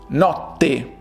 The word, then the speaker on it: notte: Remember, in the middle there are two strong T's. So it is notte, notte.